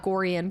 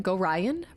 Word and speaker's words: Gorion: ball spawn B spawn probably it's pronounced Goran wait what oh Goran this go oh not Goran gorion really that's so interesting I'll